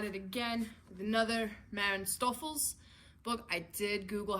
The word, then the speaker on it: Stoffels: how to pronounce it i believe it's german and that is the best i can do because i'm an american i did not take german but stouffel's was the correct pronunciation from what i could find so i do apologize